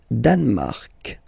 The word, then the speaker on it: Danemark: Le Danemark. So same sound here, this K and then this Q-U-E, well, they will produce the same sound here.